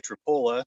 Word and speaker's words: Tripoli: And it makes sense that we'd be by Tripola because it's spelled like Tripoli and sounds like Tripola.